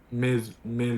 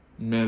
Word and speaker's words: mais: Yeah, but you were pronounced like mai, and I was like, where do you read this? Yeah, mais.